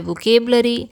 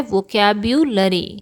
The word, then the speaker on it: वोकैब्युलरी: अक्सर इसे लोग प्रोनाउंस करते हैं वोकैब्युलरी, कोई कहता है वोकेबलरी, लेकिन इसका सही प्रोनाउंसिएशन क्या है? वोकैब्युलरी।